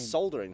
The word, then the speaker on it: soldering: Wait, how do you pronounce it? Soldering. Solder. There's Soldering. an L in it. Yeah, it's silent.